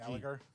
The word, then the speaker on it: Gallagher: Gallagher. You don't pronounce the G.